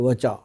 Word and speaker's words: वचा: तो उसमें क्या है जी, जो चौथी चीज़ डाली है वो डाली गई है वचा। वचा, वच भी बोलते हैं इसको, VACHA, वचा।